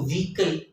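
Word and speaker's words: vehicle: अगर आप देखें तो विकल वे ए ए हा यहां पे हो की आवाज जो है वो साइलेंट है लिहाजा आप देखिएगा की इसको वीकली ही बोल रहे हैं गाड़ी को कहते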